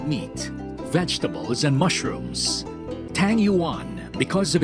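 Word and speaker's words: 鱼: Because in Chinese, the fish is yu, the same pronunciation with abundance, yu.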